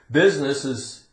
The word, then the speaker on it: business: Business's purpose is to make a profit.